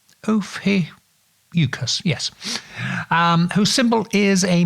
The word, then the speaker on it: Ophiuchus: The new one being the house of, I'll see if I can pronounce it right, Ophiuchus. Ophiuchus, yes.